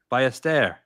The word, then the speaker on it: Ballester: Ballester.